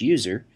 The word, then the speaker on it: usr: by the system administrator slash usr often pronounced slash user which contains software that